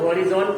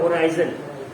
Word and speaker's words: horizons: इसको बहुत से लोग हॉरिजॉन पढ़ेंगे, ठीक है, कोई दिक्कत नहीं है, बट इसका एक्चुअल प्रोनाउंसिएशन क्या होता है, होराइजन, ठीक है।